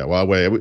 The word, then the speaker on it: Huawei: Yeah, Huawei. Those guys are actually sort of there. I don't know how you pronounce it, like Xiaomi or whatever that is.